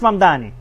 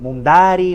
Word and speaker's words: Mamdani: Fíjense, nadie sabe pronunciar mi apellido. Es Mamdani, pero a cada rato me dicen Mundari, Mumnari.